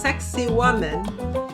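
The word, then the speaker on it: Sacsayhuamán: Um one of the tours of many before Machu Picchu were these ruins and the name is pronounced sexy woman.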